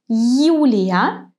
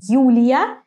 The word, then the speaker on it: Юлия: In the word Юлия, it's like English you. In the word люблю, it's softer, it's a bit different. We actually soften the consonant before you, and instead of you, we pronounce U. Лю, л, люблю. If you missed my lesson about soft consonants, go to see it now. You. So in the beginning of the word, you is pronounced as in the English word you.